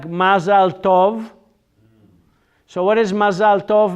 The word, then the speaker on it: mazal tov: Mazel tov. You've ever heard mazel tov? Mazel tov is Yiddish. Hebrew is mazal tov. Mazal tov, not tav. Tov. Mazal Tov. In Yiddish is said Mazel Tov.